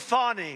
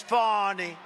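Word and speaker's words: Fani: do you think of fonnie f do you think fonnie huh h f a ni I that's pronounced Fanny but you're not allowed to say it's fonny oh boy oh boy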